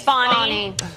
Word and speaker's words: Fani: Fanny's Fani. chances. Fani Willis. Fani. I call her Fanny. I think so. Fani or Fanny? It's Fani. Spelled Fanny. Fanny. But pronounced Fani.